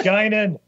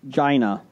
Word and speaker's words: Guinan: False, it's Guinan. Well, we wanted Jason to try to read it. So. Bonus points if Jason pronounces those names correctly. Quark and Gina.